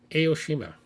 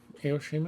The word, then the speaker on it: Aoshima: Okay, Aoshima. Aoshima, am I pronouncing that right? Yeah, I think you got it.